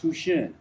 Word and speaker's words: Houchin: By the way, Hchin is a French name pronounced Tushin.